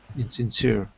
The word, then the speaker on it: insincere: in insence in silence try it like this look three syllables in same yeah inere inere insincere okay cor or insincere good so everyone what